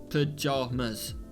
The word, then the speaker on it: pajamas: the second syllable of pajamas ja palm well it's not jam pajamas so it's jar sounds like palm palm john palmer stretch